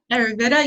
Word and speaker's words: Ayurveda: Her trainings are informed by the natural healing tradition of, how do you pronounce it? Sonali, that's your thing. Ayurveda? Ayurveda, yoga, and trauma-informed relationship community building skills that